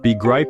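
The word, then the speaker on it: begrijp: means I don't understand remember be gripe is pronounced with a guttural G sound similar to the cheich and Bach don't be afraid to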